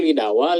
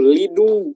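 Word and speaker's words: لِدُوا: Kadang fi'il amr ini suka menjebak ya cara bacanya ya. Ini seperti apa? Lidawu, lidawa, lidawi. Padahal itu lidu artinya.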